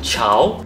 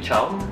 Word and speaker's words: Chow: spell my name wrongly they call me chao yes i'm chow but it's not the